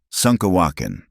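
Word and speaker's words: šúŋkawakȟaŋ: "You say wrong," Kimama would giggle when Eliza mispronounced a word. "Like this, Sunkawakin."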